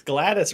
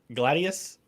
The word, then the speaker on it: gladius: at that part oh yeah how do you pronounce uh the word for knife i don't remember the word for knife it's gladys right gladius oh yeah yeah it's a sword again in